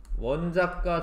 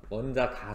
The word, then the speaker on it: 원자가: 요거는 뒤에 나올 거는 같은데 같은 족이면 원자과 전자라고 하는 게 같아요. 원자과 전자수가 같아요. 원자과 전자수라고 하는 거는 이게 원자과라고 읽으셔야 돼. 원자가 전자수가 아니라 하여튼 원자과 전자수는 가장 바깥쪽 껍질에 있는 뒤에 나올 거예요.